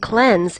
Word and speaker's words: cleanse: equally from mean and cleanse is not pronounced like clean mayor but major down but